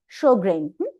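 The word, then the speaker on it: Sjögren: Eta pronunciation actually Sjogren.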